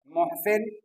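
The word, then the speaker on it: محاسن: इसी तरह आगे में देखते हैं नक्ता नक्ता की जमा नौकात मोहसिन मोहसिन की जमा महासिन याद रखिएगा इसका उच्चारण हम मुहासिन महासिन करेंगे मोहसिन मोहसिन की जमा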